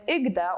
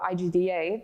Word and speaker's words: IGDA: And the organization was born in 2018 during the during the Game Developers Conference in San Francisco, when IGDA, or IGDA, depending on how you pronounce it, decided to, very foolishly, do a panel about how unions is not the way to improve the industry.